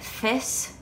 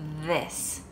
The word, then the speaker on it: this: more than one thing another word where the th makes the sound of the is the word this and again i'll kind of pronounce it with the same sound as bath and thing and you'll hear right away it just doesn't sound right if i pronounced it fists like thing fists hopefully you can hear it it's just not quite right it's got a different sound it's this so this